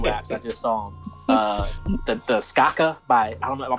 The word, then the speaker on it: Skaka: The Skaka by I don't know.